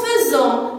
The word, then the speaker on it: faisons: Et comme j'ai dit, je prononce faisons, mais j'écris AI.